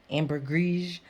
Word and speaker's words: ambergris: um and i believe amber greece is french is this french french ambery it's different ways to say this some people pronounce the s some people don't pronounce the s um ambergris some people say so